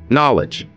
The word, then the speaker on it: knowledge: Knowledge, here K is silent.